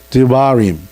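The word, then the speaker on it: דברים: 그 다음에 드토로노미는 뭐라고 읽어요? 드바림.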